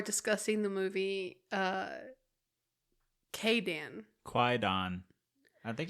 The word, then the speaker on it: Kwaidan: the movie uh Kayan Quon I think it's pronounced Quon uh it it's the W silent apparently oh really mhm kaidon yeah it's kaidon okay uh from what